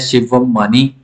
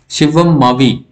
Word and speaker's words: शिवम मावी: और last number पे आते हैं शिवम मानी, शिवम मावी इनका जो करेक्ट प्रोनाउंसिएशन है।